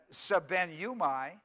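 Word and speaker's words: σβέννυμι: be en and you mi now when you pronounce it sub nu my sub nu mine it's a very it looks really difficult the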